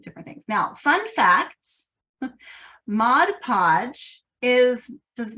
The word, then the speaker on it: Mod Podge: everything together right so it seems like it should be Modge Podge but it is actually Mod Podge so FYI all right